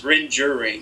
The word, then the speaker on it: Rengering: Is it Rengering? Close. It's Rengering.